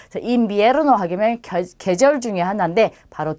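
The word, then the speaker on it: invierno: 자, 가운데에 있는 이와 첫 번째 있는 이 둘 다 이로 발음하면 돼요. 그러면 인비에르노라고 발음이 되죠. 인비에르노 하면 계절 중에 하나인데 바로 겨울을 뜻합니다.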